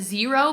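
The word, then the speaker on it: Xero: up was the brand I think you pronounced it zero but it's spelled x e r o these were men's shoes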